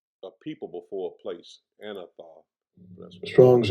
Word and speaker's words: Anathoth: Let me make sure I'm pronouncing it correctly. Anathoth.